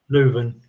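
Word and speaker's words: Leuven: Is it Leon? However you pronounce it. Luven.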